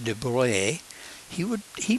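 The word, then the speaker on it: de Broglie: he proposed that there that's pronounced Duvalier he would he pronounced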